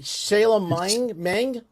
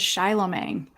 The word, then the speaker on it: Shylomang: Am I saying it right? Shayla Meng? How do I say it? Good evening. It is Shylomang. Shylomang. Boy, the way you say it now, it seems easy, doesn't it?